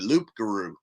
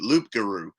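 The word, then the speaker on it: loup-garou: Now, when she interviewed the guy, he gave a different pronunciation and said Loopgaroo. So this is a Ruglaroo and Loopgaroo.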